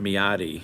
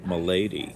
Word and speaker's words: Milady: I pronounced it Miyadi. I don't know. Miyadi sounds more like a Japanese sound, but who knows how it's pronounced? Oh no, sorry, Milady. Milady, maybe? Yeah, that's what I'm saying. That's not an I, it's an L.